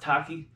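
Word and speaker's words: Takii: recap we use the taki I likes pronounced taki cold brew coffee maker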